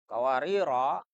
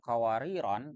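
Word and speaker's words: قواريرا: Kalau dibaca tanpa tanwin kan bacanya kawarir jadinya. Tapi kalau membacanya dengan kawariron yang pertama, kan yang kedua juga sama. Bacanya kawariron agar sesuai.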